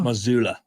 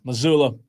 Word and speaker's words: Mazzulla: The guy who has a hard name to pronounce. Oh, Joe Mazzulla? Mazzulla. I didn't know that. Yeah, Mazzulla.